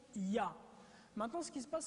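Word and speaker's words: יה: YHWH et la translitération les deux premières parties YH se prononce ya maintenant ce qui se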